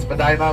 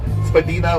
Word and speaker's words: Spadina: The the working class, which is Spadina, which is now the official name. Spadina, which is the indigenous root word, which the upper class used to say, and also to the Chinese pronunciation.